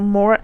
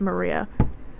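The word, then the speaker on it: Maura: I don't know how you pronounce her name. It might just be Marie. No, Mora. There's no way it's Maria. There's no way it's Maria, right?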